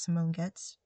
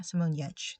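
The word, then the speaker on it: Simone Giertz: do projects such as Simone gets I think that's how I pronounce her name. Um, no, Yetch. Yeah, Simone Yetch. That's what it is.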